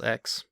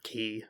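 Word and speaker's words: χ: based on kingdom hearts x or key however you want to pronounce it and uh venus kingdom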